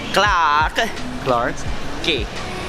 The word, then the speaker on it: Clarke Quay: how do you how do you say it clark clark gay okay and this basically is for a big